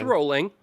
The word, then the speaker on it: Rowling: It's rolling. It's rolling. Rolling.